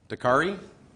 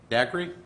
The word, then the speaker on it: Daiquiri: David Bradsky for, how do you pronounce that? Dakari? Daiquiri.